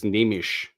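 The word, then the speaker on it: Neemias Queta: I don't remember how you say it. You got to throw that H at the end of this. Nemish. Just like it's Andre Lemouche, but way less French than I put it.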